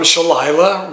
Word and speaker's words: Shalila: So, all right, so another comment came from Shalila, rhymes with Delilah.